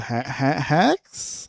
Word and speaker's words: HAEX: This one is called Hacks. I think it's how you say it. HAEX.